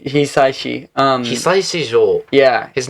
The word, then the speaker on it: Hisaishi: And I pronounced his name wrong last time, but Joe Hisaishi. Hisaishi.